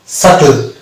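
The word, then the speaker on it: subtle: যেমন ডেট, এটা কিন্তু বি এখানে উচ্চারিত হবে না, এটা হবে উচ্চারণ ডেট, ডাউট, সাটল, এখানে বি উচ্চ থাকছে।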